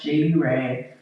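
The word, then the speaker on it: Jadeyyrae: Um, it is J A D E Y Y R A E and it's pronounced JD Ray.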